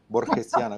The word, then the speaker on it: borgiana: borgiana la película. Sí, a lo mejor. Borgesiana, ¿cómo se dice? Borgiana. Me Borgiana. gusta, también se dice borgesiana, pero creo que me gusta más borgiana.